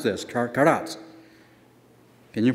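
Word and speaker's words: כרת: Now if you can pronounce this, karat. Can you pronounce that? Karat. All right? Just remember the word karate, but don't say karate. Just say karat.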